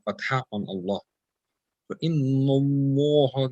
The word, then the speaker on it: الله: So Inna Allah, the Allah here will be pronounced with pur, with the full mouth.